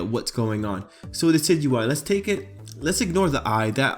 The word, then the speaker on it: Decidueye: And now you can kind of say, well, that's how you pronounce it, Decidueye. You would pronounce it based on its base word, deciduous.